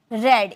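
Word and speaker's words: read: मैं पढ़ा था, आई हैड रेड। इसे रेड में प्रोनाउंसिएशन करेंगे, क्योंकि रीड फर्स्ट फॉर्म है, सेकेंड और थर्ड फॉर्म रेड हम बोलते हैं।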